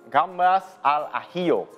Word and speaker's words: gambas al ajillo: Can you pronounce it for me? It's, if I'm not wrong, it's gambas al ajillo.